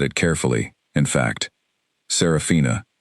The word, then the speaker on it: Saraphina: In fact, Saraphina, four syllables with the emphasis on the second one, delivered with the